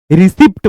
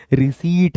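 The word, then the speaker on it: receipt: हैं, वो ओपन है, बहुत सारे लोग बोलते हैं क्या बोलते हैं वो रिसिप्ट बोलते हैं, वो रिसिप्ट नहीं रिसीट है।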